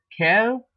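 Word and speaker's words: quels: it becomes Kel becomes Kel but you add an S the pronunciation is the same and Libra pronounced as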